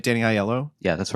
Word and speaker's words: Aiello: I'm assuming his last name is pronounced Aiello, I think. I'm sorry. No, I think you're right. Danny Aiello.